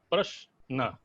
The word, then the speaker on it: प्रश्न: आप अगर प्रश्न का उच्चारण करें तो प्रश्न एक साथ उच्चरित होता है, फिर न अलग हो जाता है उच्चारण में।